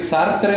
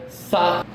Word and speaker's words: Sartre: Si le quieren decir Sartre, está bien. En francés, Sartre. Se pronuncia un poco raro. Jean-Paul Sartre.